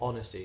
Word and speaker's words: honest: the fact that we we don't pronounce the H in honest or honesty so you are an